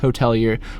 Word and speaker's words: Hotelier: The Hotelier, just kidding, it's still pronounced Hotelier.